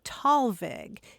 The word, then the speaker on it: Thalweg: It's usually pronounced Talweg, and it is a combination of two German words.